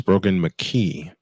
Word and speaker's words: Brogan McKee: I've mispronounced it. It's Brogan McKee with a running back standing to his right, 3 receivers out to the right.